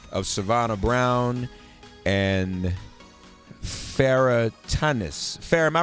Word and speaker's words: Tanis: in the persons of Savannah Brown and Farah Tumnus Farah my pronouncing your last name correctly both your names